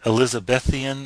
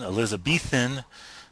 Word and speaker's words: Elizabethan: but there is a uh elizabethian Elizabethan excuse me I think it's Elizabethan that would be the pronunciation that I've heard uh type of color